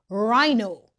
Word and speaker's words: rhino: R H says R. The H is silent. Rhino D J says CH.